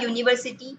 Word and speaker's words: university: House, H का pronunciation आ रहा है, that's why we have given here the article a. A university, see, U is there, it is a vowel,